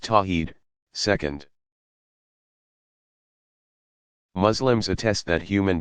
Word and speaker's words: Tawhid: worldly affirming God oneness is called Tawhid pronounced tawheed second Muslims attest that